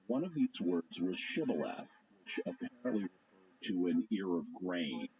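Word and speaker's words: shibboleth: In Gilead, people pronounce this word with a sh sound on the front of it. So it would be pronounced chival.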